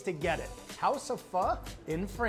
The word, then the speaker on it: Pho: of you might be thinking what exactly is f first of all it's pronounced f it is not faux and now you know so essentially f